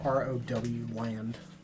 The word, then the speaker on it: Rowland: Yeah, it's spelled weird though. It's R-O-W land. Rowland. Oh, Rowland. Yeah. It's Sure. Roland, but it's weird.